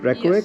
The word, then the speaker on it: Reykjavik: That's how you say it, Reykjavik.